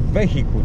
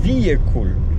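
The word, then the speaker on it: vehicle: To nie jest wehikuł, to jest wiekul. No czy to wiekul to nie jest też poprawna, z poprawnym akcentem wymowa, no ale jest to bardziej wiekul niż wehikul.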